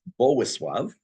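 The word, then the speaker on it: Bolesław: There's a king who's known as, it's spelled Boleslav. It's actually pronounced Bowisław.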